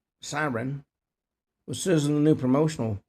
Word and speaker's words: Sarin: On Tuesday, the 28-year-old actress took a to social media to announce the January 28th launcher of Sarin uh pronounced Siren with Susan the new promotional photos.